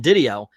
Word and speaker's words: DiDio: Is Didio. I've heard it Didio. both ways, but That's how he pronounced it himself.